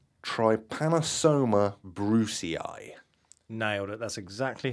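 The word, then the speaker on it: Trypanosoma brucei: because this one's quite a hard one to pronounce trypanosoma Brucie nailed it that's exactly how you say it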